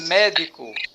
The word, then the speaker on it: médico: Então, o ME é a sílaba forte, certo? Então, essa sílaba é a sílaba tônica. Tudo bem? Olha aí, ó. Destaquei até para vocês aí no slide, ó. Sílaba tônica, me, o di é sílaba átona e o có é sílaba átona.